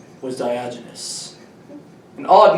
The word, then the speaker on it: Diogenes: Diogenes, that's how you say his name.